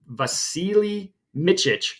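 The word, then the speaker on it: Vasilije Mićić: Vasilije Micic, I believe is how you pronounce it.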